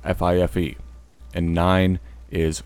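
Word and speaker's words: fife: ] leaves on it five phonetically is flyff fi Fe and nine is nine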